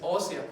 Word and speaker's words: ósea: médula ósea y bien es ósea una palabra con acento en la o no es Osea es ósea hab pido Bueno vamos bien